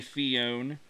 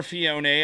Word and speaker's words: Phione: Or Phione, I've heard both. And I believe I've heard both from the show. I think Phione was the most common pronunciation on the show. But I've also heard Phione before, so you're going to hear both.